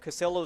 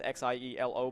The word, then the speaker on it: Xielo: I know that Casillo is going to be making it. That's Xielo, by the way, from Gun 5. The pronunciation is really weird.